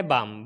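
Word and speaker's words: balm: जैसे एम का एग्जाम्पल है बाम, बाम में क्या है, एम से पहले एल आ गया है तो यहाँ पर ये भी साइलेंट हो जाएगा।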